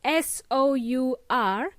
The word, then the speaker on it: sour: It's spelled S-O-U-R, but it's pronounced sour.